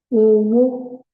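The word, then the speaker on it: owó: Another way to pronounce that it can be pronounced is Owo, Remi. So if it is pronounced thus, it means money.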